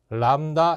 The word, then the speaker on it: 람다: 그래서 L과 C를 주면 이게 두 번째가 되는 거고 세 번째 공식이 람다 F라는 게 있어요.